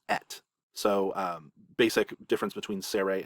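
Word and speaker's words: אֶת: Down here it's pronounced et.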